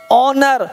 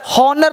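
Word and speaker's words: honour: ऑनर, हॉनर नहीं बोलेंगे, आज वो सब हॉनर बोल देते हैं, क्या बोलेंगे ऑनर, इज्जत सम्मान को ऑनर बोलते हैं, ठीक है।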